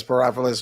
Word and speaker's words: Spryopoulos: Spryopoulos rhymes with metropolis. Yeah, I practiced a whole lot. All right, Spryopoulos, who is running for the clerk for the Circuit Court of Cook County.